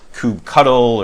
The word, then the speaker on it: kubectl: Docker as the commands I'm going to use kubectl, sometimes pronounced as kubectl, or lots of different ways to go through.